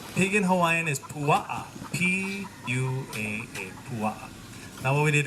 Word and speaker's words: pua'a: Pig in Hawaiian is pua'a, P-U-A-A, pua'a.